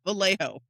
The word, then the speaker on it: Vallejo: Listen, I remember that the double L makes a Y sound. Okay, but the the J O is a hoe. Just remember it's the hoe of the valley. Vallejo.